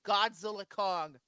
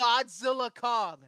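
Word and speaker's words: Godzilla x Kong: thing and Godzilla actually the x is silent I just learned that the real the official way you pronounce the is Godzilla Kong the new Empire I've been wondering how in the world silent I was like is it Godzilla and Kong it's just Godzilla Kong not even and not X just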